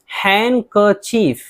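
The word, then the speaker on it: handkerchief: अल्फाज़ है जिनके अंदर डी खामोश रहता है जैसे हैंनकचीफ यहां डी है लेकिन डी को नहीं पढ़ेंगे हैंनकचीफ बोलेंगे रुमाल इस तरह हैंडसम बहुत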